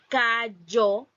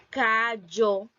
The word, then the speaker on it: callo: Entonces, la palabra, también tengo un ejemplo de la palabra en callo, callo, y cómo los hablantes lo pronuncian la palabra callo, callo.